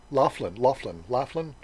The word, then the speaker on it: Laughlin: How do you pronounce that? Laughlin.